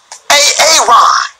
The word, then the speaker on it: Aaron: I said it like four times, so why didn't you say it the first time I said A-A-Ron? Because it's pronounced Aaron.